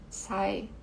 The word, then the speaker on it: sigh: Bom, Esse suspiro que ele comenta aqui, sai, esse GH é mudo, tá?